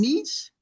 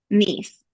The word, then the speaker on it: Nice: would be staying in in, uh, am I pronouncing it right? In Nish. Nice. Nice.